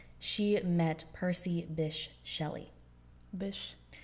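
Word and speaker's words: Bysshe: met percy bish shelley bish i still don't believe it's pronounced that way that's how i've heard it pronounced so many times i still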